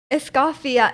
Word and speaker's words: Escoffier: Yeah, it's Escoffier. Yep. It's French.